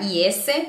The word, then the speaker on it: is: Otra palabra que son como que la usamos todo el tiempo es la palabra IS. La palabra IS no se pronuncia IS con una S, se pronuncia como una Z.